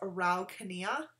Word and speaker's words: Araucanía: I would assume it was like a Araucanía, but I Googled, as I always do, and I guess it's Araucanía. Is how you would pronounce that.